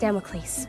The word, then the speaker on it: Damocles: want to see her it's pronounced damocles after the probably apocryphal figure in sicilian doc to